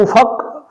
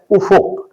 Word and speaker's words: افق: اجمی درست تلفظ ہے۔ اسی طرح یہ لفظ افق ہے، جس کو افق فے پر زبر کے ساتھ پڑھا جاتا ہے تو فے پر زیر ہے، فے پر پیش ہے، افق، تو اس لفظ کا درست تلفظ فے پر پیش کے ساتھ ہے۔ ایسے ہی یہ لفظ